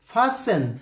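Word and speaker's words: fasten: লিসেন টি silent letter, অফেন টি silent letter, ফাসেন টি silent letter, এভাবে বিভিন্ন সময় সাইলেন্ট লেটার ব্যবহার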